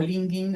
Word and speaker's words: LinkedIn: En LinkedIn también tenemos LinkedIn o Linking en realidad se pronuncia.